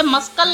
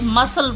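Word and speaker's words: muscle: Science scene scene अब इसे मसकल नहीं बोलते इसे मसल बोलते हैं।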